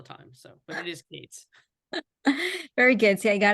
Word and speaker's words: Kates: joined by filmmaker Kates I hope I pronounce it right it's Kates right Kates yes my grandfather be it used to be spelled k TZ my grandfather got tired of being called cats but people call me